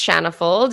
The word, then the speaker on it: Shanna Fuld: and what you do sure my name is shanna fold and you pronounce my name precisely correct so thank you